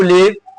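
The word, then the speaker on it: leave: यह लिव नहीं है। हमारे मोस्टली स्टूडेंट्स एंड प्लेयर्स इसको गलत प्रोनाउंस कर देते हैं। इसको लिव बोल देते हैं। तो जो लिव होता है वह इसके साथ आएगा। एल आई वी ई लीव ये लीव है।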